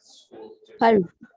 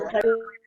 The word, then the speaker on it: Paris: We reserve the S, we don't pronounce it when we are speaking French.